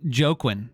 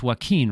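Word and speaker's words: Joaquin: I used to call him Jokin. Join Phoenix. And and my girlfriend at the time, she knew his his name and how to pronounce it and I didn't. And she let me say that for like a couple of weeks and then one day she pulled me aside. She said, "You know it's waqen, right?"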